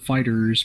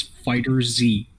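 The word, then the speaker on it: FighterZ: like dragon ball fighters where everybody calls it fighters but bandai namco was like no it is fighter z yeah it's just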